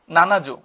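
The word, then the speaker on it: 七十: ইয়ন এভাবে বাড়বে তারপর 70 70 কি হবে নানাজু অর্থ 70 বা সীতিযু বলতে পারি আমরা ঠিক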